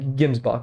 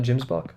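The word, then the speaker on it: gemsbok: pronunciation Mayo noo yeah gims boach okay gims boach not Jims boach gims boach Okay cool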